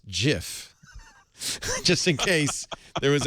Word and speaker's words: Jif: By the way, peanut butter brand Jif has tweeted, "It's pronounced Jif," just in case there was any confusion.